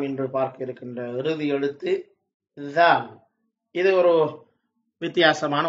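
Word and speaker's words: ذال: கிட்டத்தட்ட டிஎச் போட்டால் ஆங்கிலத்திலே என்ன சத்தம் வருமோ அந்த உச்சரிப்பு தான் இதிலே வருகிறது. இதனை உச்சரிக்கின்ற போது நாக்கினுடைய மேல் வாயில் உள்ள முகட்டினை தொட்டு உச்சரிக்க வேண்டும்.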